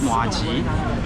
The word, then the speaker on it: mochi: I've been saying mochi, but the pronunciation is Mochi.